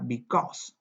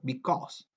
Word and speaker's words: because: Se escribe because, quizás les suena, se pronuncia because, ¿cierto? Como con una acentuación intensa en la O, because.